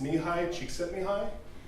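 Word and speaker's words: Mihaly Csikszentmihalyi: name I could not spell, but I can pronounce. It's Nihai Csikszentmihalyi.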